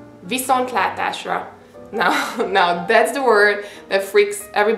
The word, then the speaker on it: Viszontlátásra: I'm suggesting you to try just kind of break it down. Viszont látásra. And once you're okay with pronouncing separately, then you can try to say all in one word.